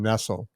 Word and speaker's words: Nestle: Actually, she pronounces her name Nestle, but it's spelled exactly like Nestle.